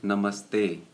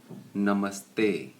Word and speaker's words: namaste: chahiye a second one is namaste no ma stay namaste up Cassie hey okay